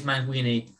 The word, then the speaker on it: Manguini: And your opponent, I've got his name here, Nicholas Manguini. Is that how I pronounce it? Yeah. Nicholas Manguini.